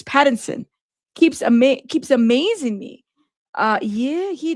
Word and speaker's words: Pattinson: It's Patterson, but it's Pattinson.